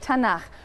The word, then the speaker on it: Tanakh: Tanakh, which is really the letters T, N, and Ch. And they put little A's in there to make it easy to pronounce, because T is hard to pronounce.